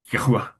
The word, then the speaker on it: Yahweh: We find Yahweh, which is the way I pronounce that, YHWH.